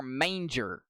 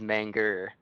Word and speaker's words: Manga: pronouncing his name wrong is it manga or manger it is manga it is manga all right I don't know how we'll have to wait and see yeah I think I said manga but I'm not sure